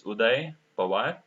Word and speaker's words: Udai: so yeah you know my my name generally they pronounce it in a wrong way it's udai P okay I work in